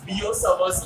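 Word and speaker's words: Biot–Savart: So the rule that gives us the concept is called it's spelled as दो T silent रहता है. ठीक है. Spelled as बियोसवर्स लॉ. मतलब लिखेंगे ये, लेकिन जब बोलेंगे तब दो टी साइलेंट रहेगा.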